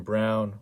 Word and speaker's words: Braun: the defensive side christian brown like i said it's spelled braun but is pronounced brown for whatever reason six six two twenty